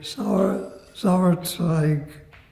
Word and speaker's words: Sauerzweig: I wanted to talk to you then about the other German, Zauerswig. Is that how you pronounce his name? Sauerzweig. Sounds fine.